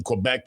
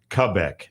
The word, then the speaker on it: Quebec: I'm sure David, if he's still listening, it got irked by that because you pronounce it Quebec. Quebec. That's the that's the actual French Canadian pronunciation, not Quebec, even though it looks like Quebec when you you look at it.